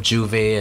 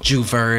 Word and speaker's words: J'ouvert: like really weird like instead of j'ouvert it's jus fur it's or you can